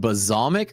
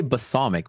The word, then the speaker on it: balsamic: But if I say it, is there a right way to say it? I kind of never knew if I'm ever saying that right. Is it b is it basamic or bazomic? Bazal with a Z.